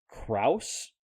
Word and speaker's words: Krause: Last name Krause or Crows. It's spelled Krause. Yeah, I'd say Kraus. Krause, right? Yeah.